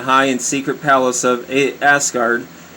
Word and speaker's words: Asgard: and secret palace of asgard that's a funny way of pronouncing it but that's like the only way i can see it's uh or ozgard a-s-g-a-r-d so i mean i know it sounds